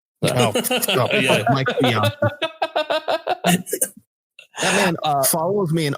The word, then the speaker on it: Bianchi: He does not deserve to have his name pronounced correctly. Yeah, exactly. Bianchi. Yeah. I've always called him Bianchi, and I'm going to continue to call him Bianchi.